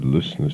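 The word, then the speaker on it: Ljøsnes: and showed me that it's spelt what I would say is L-J-O with a line through it, S-N-E-S, pronounced the same way, but spelt so differently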